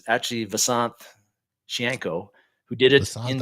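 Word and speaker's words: Visanthe: little, but it's actually Vasanth Shianko, who did it in 2000. He at the end of his tenure, he was wanting to be pronounced Vasanth.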